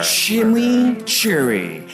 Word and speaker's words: chimichurri: Chimichurri. That's how you pronounce it. Let it roll off your tongue.